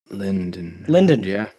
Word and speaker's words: Linden: It's NDN. Everyone misses the second N. Linden.